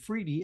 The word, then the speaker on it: Freedy: And even him, Freedy, rhymes with needy.